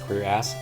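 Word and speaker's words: cuirass: to press your ass is pronounced queer ass ah today I learned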